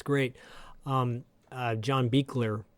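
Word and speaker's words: John Buechler: it's great um uh John beer uh that's how you say his name John beer rest in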